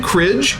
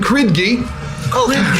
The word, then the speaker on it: Kridgi: It's very simple. It's hard D, hard G.